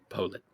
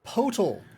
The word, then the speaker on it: Potal: Potal. Rhymes with Potal.